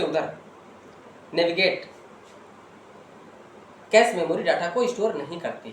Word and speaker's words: cache: इसके अलावा मेमोरी के अंतर्गत हम बात करेंगे आज कैश मेमोरी के बारे में। कैश मेमोरी को कासे मेमोरी या कैश मेमोरी या कैश मेमोरी भी कहते हैं। इसकी स्पेलिंग होती है CACHE।